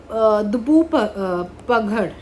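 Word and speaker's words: धूपगढ़: तो सतपुरा रेंज की highest peak कौन सी है, तो योर करेक्ट ऑप्शन इज दुबू पगड़, ठीक है। सो अब इसको प्रोनाउंस इसी तरीके से करते हैं।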